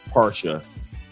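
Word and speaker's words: Pasha: I hadn't put on yet, which is uh para by Cartier. And I know Cartier is not how you pronounce it in French, but it's para. P A R S H A para col very masculine.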